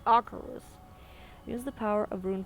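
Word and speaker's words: Acherus: I know it's so funny, but I used to pronounce it Acheros until I did the Death Knight campaign in Legion, and it's actually Acheros.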